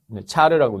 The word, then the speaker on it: char: 젤다타임 종류 자바 동일하게 char 차르라고 읽기도 합니다 cha 여기서는 일반지 차지합니다